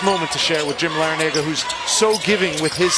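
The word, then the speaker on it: Larrañaga: pronounce it another way we'll stick with how coach L pronounces it it's Larranaga but he said his brother pronounces it Larranaga and his dad from the New York area pronounces it Lera Naga forget about at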